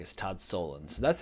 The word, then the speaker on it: Solondz: from director todd solondz I've heard him also pronounced this Todd salons but in interviews it always seems like as Todd stolen so that's how I'm gonna pronounce him um